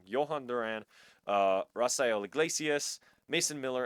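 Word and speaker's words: Durán: Griffin, and then the relief pitchers are Johan Dur Johan, sorry, I said it wrong, Johan Duran, uh, Rafael Glaciius, Mason Miller, and then Riley O'Brien.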